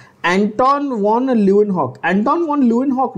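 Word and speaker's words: Anton van Leeuwenhoek: एंटोन वॉन ल्यूवेनहॉक, एंटोन वॉन ल्यूवेनहॉक ना बच्चों, ये जो यहां पर आपको एनसीईआरटी में दिया नाम देख लो, एंटोन वॉन ल्यूवेनहॉक, ठीक है?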